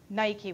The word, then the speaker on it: Nike: Nike, we would say. I wouldn't say that personally in Greek pronunciation, but that's how we know her winged victory.